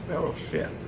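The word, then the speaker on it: בראשית: from a Hebrew word, Berosheth. Now, it says Berosheth or shit here, Berosheth here, but sometimes it's pronounced as if the last T is followed by an H, Berosheth.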